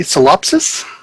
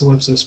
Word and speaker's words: Solipsis: It's pronounced solipsis, by the way.